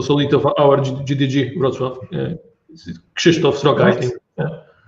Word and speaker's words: Wrocław: So there are a number of GDEs in Poland, and there's even one in Wrocław. So is that how it's pronounced? Wrocław?